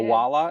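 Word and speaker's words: Owala: I never jumped on the Stanley craze, or I guess the craze now is Awala. Did I say it right? Yes, you did. Awala.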